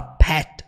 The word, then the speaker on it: pet: Quando ela fala pet, vocês podem perceber que o T nem sai, é como se ela falasse só pé.